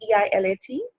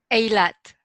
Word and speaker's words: Eilat: She travels back, together we travel back in time to her humble childhood in, how do you pronounce that? E-I-L-A-T? Eilat. Eilat.